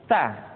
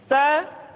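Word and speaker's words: ث: Minal mutntianita berikutnya huruf saa saa dikeluarkan dengan menyentuhkan ujung lidah kita dengan dinding dua gigi seri bagian atas diucapkan dengan suara dan nafas yang terdengar mengalir sa SII su bas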